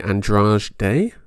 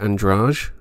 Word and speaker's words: Andrade: Fabricio de Andrade Day, I think they would pronounce it. But I'm going to go with Andrade, if that's all right with you.